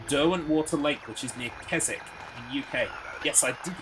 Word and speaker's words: Keswick: I think it's pronounced Keswick, by the way, even though it doesn't look like it is. Because of the W. It looks like it's Keswick, but I think it's Keswick.